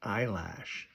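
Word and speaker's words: Eilish: I listened to her album last year on our random album roulette, uh, Wildflower, Billy Isish, and the proper pronunciation is eyelash. Most people don't know that.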